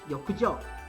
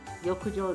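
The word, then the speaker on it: 浴場: In Japanese, bathhouse and lust are both pronounced yokujo, and it got converted the wrong way.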